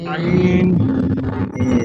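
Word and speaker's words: عين: মাশাআল্লাহ, আমরা এই যে কি বলি, আইন বলি না, যে আইনের মার প্যাচ বুঝা পড়ো দায়, সেই আইনের মতোই উচ্চারণ হবে, বাট গলাটা একটু চেপে উচ্চারণ করতে হবে।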